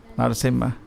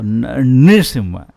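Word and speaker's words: नृसिंह: और हिरण्यकशिपु को नरसिम्हा, अगर को नृसिम्हा, एग्जैक्ट प्रोनाउंसिएशन के लिए न के नीचे री है, नृसिम्हा, पर इसलिए प्रोनाउंस मुश्किल है, इसलिए हम सब लोग नरसिम्हा बोलते।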